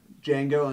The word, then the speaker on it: Django: Um, uh, we had, uh, Django Unchained.